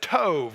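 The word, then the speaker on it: טוב: and that word better is the Hebrew word Tove all right didn't Sato I said Tove okay put a V at sounding at the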